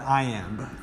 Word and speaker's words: iamb: one is stressed that's called an iamb two syllables so i am is a foot it's